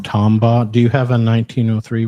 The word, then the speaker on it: Tombaugh: Tombaugh.